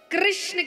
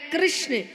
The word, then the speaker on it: कृष्ण: नाम रखा गया कृष्ण कृष्ण कहने में जीभ घूमती है बोलो घूमी जिसकी नहीं घूमी गलत बोल रहा है हां सही उच्चारण करेंगे तो जीव तो भगवान का नाम रखा गया कृष्ण और कृष्ण का दूसरा